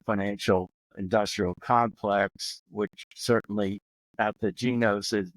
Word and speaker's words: Ategenos: Really excited about today's guest is John Coyne with Athegenos, and did I pronounce it right?